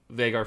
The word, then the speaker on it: Veigar: So, yeah, I think just to give a little insight into Veigar, I think, or Veigar, that is actually the correct pronunciation.